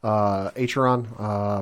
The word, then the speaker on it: Acheron: Yeah, titled Archerion, I think is how you say it. Acheron, Part 2.